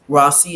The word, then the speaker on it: Rawsi: Rossi is spelled R-A-W-S-I.